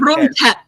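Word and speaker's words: Krung Thep: And then the T8, the tep, the H is silent. So just say like tep. Like Grung tep.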